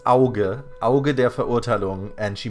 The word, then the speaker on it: Auge: Okay, so it's pronounced Auge.